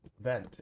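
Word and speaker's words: Wundt: It first started with 1879 with Wilheim Wilhham went vent. It's pronounced with a V.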